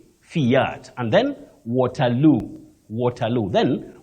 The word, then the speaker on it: Fiat: particular then particulate particulate Fiat don't say fat Fiat and then watero watero